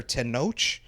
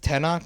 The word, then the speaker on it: Tenoch: the name wrong tent it's either tenoch or tenoch but it's uh i'm gonna go with tenoch just it sounds it sounds better but i hope